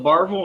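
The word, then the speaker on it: Barbourville: Um, and then Barville is Barberville. They leave out four letters when they pronounce it.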